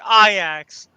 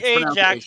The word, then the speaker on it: Ajax: And oh, by the way, that club he used to manage, it's pronounced Ajax, just so you know. Wow, I thought is it spelled AJAX? Yes, it's pronounced. Yes, it's spelled like Ajax, but it's pronounced Ajax.